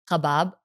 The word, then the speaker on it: Khobab: 99% of people, I think, can't pronounce it correctly. It's either Ghabab, it's Gokab, and Khubaib. Mostly it's Khubaib. People say Khubaib a lot.